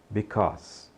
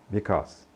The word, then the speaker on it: because: não diga becuse né esse a tem som de o e esse Ezinho no final não é pronunciado então só o s Então diga because because força em inglês é